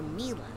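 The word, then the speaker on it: Milla: the moon go understood pronounced Mia or Mila well it's short for Camila you know but when I first started here Sasha mispronounced it and I thought it was so cute I didn't have the heart to correct him and now I kind of like it darling but Sasha just pronounced it Mia and oh God they're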